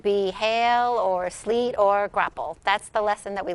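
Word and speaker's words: graupel: form of snow snow can also precipitate as grapple or sleet i am not familiar with that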